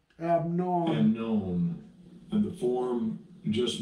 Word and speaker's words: Amnon: So Amnon is this is how you pronounce his name. Strong's H515. Amnon. Amnon.